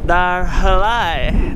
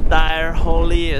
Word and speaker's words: Dyrhólaey: Anyway, I realized the pronunciation was called Dyrhólaey, not Dyrhólaey or something like that.